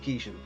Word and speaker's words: Keeshan: first arrived in America, all Americans could always pronounce my second name correctly. And this guy used to go, "Hey, you know, Captain Kangaroo?" "Yeah, you know Bob Kishan?" "Yeah, this is Dave Kishan."